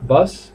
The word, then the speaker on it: bus: Tenemos airplane, avión, airplane, balloon, globo, bicycle, bicicleta, boat, bote pequeñito, boat, bus, acordaos que se pronuncia con A, bus, bus, no bus, es bus.